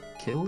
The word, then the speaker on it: Kyl: Kill, is it? KYL? Kill, yes. Yes, she pronounces it as kill.